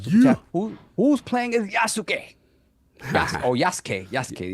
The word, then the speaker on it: Yasuke: Who's playing as Yasuke? Yasuke. You say Yasuke, not Yasuke. Yasuke.